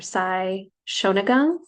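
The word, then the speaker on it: Sei Shōnagon: It's a Japanese form that I guess was made popular, relevant from like ages ago from I believe it's pronounced Sei or Sai Shonagon in a very famous collection called The Pillow Book.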